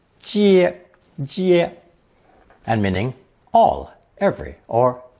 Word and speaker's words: 皆: Pronounced first tone 接 and meaning all, every, or entire.